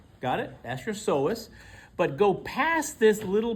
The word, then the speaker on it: psoas: That means this one next to it is the so with a silent P. Got it? That's your SOS.